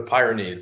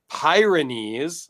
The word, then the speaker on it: Pyrenees: every Lotto for the how do you pronounce this uh it's a Pyrenees like the dog Pyrenees I know I but